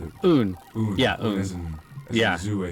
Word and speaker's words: Uun: That's how you pronounce it. Oon as in as Zoo, I think you said somewhere on Reddit.